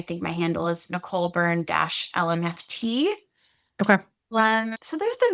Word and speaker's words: Byrne: if you're wondering how to pronounce my last name, you can just think about one of the things that we talked about today, which is burnout.